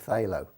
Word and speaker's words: phthalo: around the phthalo blue that's spelt with a P but it's pronounced phthalo I don't know why